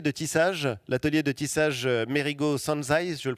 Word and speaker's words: Mérigot Sanzay: créé un atelier de tissage, l'atelier de tissage Merigo Sanzai, je le prononce bien.